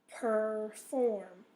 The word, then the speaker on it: perform: going to be okay so perform so the or is in the second syllable so that's where the accent is is okay report Port has